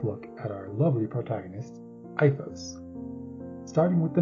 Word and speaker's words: Aifos: take a brief look at our lovely protagonist iOS starting with the name which is spelled a i f oos before hearing it out loud most people I've seen will originally pronounce the name apos but the proper pronunciation is IOS but I'll